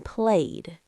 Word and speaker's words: played: Then sometimes it sounds like a d like in played. Yes. Played, stayed, cleaned, loved. It's a softer sound.